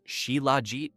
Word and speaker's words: Shilajit: Chilleit, pronounced Sheila, is the scientific name for what ancient Sanskrit texts called the destroyer of weakness.